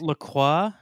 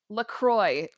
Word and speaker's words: LaCroix: would assume oh yes in the u.s it is pronounced kroy to rhyme with soy or toy or boy but in the rest